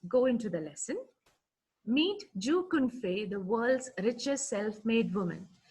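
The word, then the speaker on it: Zhou Qunfei: q u n f e i it is pronounced as jew confe so we'll just go into the lesson meet joe confey the world's richest self-made woman she is the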